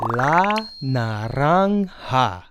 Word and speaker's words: la naranja: It's called la naranja. La naranja.